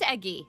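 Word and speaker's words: Egi: It is eggy with a soft G.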